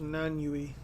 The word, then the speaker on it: Nanyue: I thought it was pronounced Nanyui. N-A-N, Nan, and then Y-U-E, Yui. That's just how I've always pronounced it.